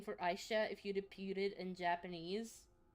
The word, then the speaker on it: Aisha: I don't Uh, but Aisha, the way that I pronounce it is also the Japanese way to pronounce it.